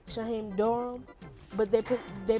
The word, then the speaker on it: Durham: Like, at the time, the way I came up with the Ham Thief, it's my name, Shaheem Durham, but they pronounce it Shaheem Durham.